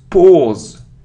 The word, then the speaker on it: pause: 14 it isn't P it isn't P or P it's pause pause it's a long sound or or so we say